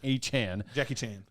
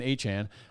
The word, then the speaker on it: Achane: No, I have Achane or how do you say Achane? Achane. Jackie Chan, Achane. So I don't need Christian McCaffrey.